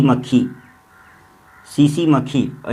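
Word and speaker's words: tsetse: सोने की बीमारी है मस्तिष्क प्रभावित, और सोना सीसी मक्खी, सीसी मक्खी, और इसको इंग्लिश में टीएससी भी ऐसा लिखा जाता है, टिस से, है ना। ये वो सीसी ही है लेकिन साइलेंट है एक तरह से।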